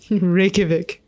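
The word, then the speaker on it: Reykjavík: capital city of okay how do I pronounce this again rikic rikic rikic rikic Rik the J is like a y I see that makes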